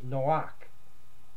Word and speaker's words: Noach: pronunciation of Noah is Noach. It's a cha sound at the end.